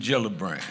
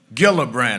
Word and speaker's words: Gillibrand: Senator Kirsten Gillibrand. She came that Saturday and I said I introduced her as Gillibbrand. I couldn't say her name right.